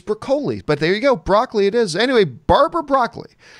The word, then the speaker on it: Broccoli: bucoli is it Barbara Brock roughly it is pronounced broccoli the fact she had something to do with broccoli itself I actually always thought it was brocoli but there you go broccoli it is anyway Barbara broccoli weighed in on